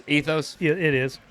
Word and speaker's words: Ethos: brewing is it pronounced ethos yeah it is just like the insurance company or the water that Starbucks sells ethos is we're probably